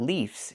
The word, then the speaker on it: leaves: But the plural form is not leaves, it's leaves. We use the letter V and pronounce it VV plus the S making a Z sound like a zebra.